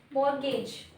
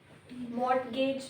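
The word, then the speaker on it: mortgage: मॉर्गेज, ए B ma'am A इट्स ए। मॉर्गेज नहीं पढ़ते, मॉर्गेज पढ़ते हैं।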